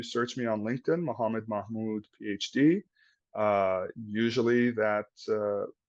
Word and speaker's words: Mahmoud: you uh for watching and thank you muhamed Mahmud is Mahmud no you hit it right the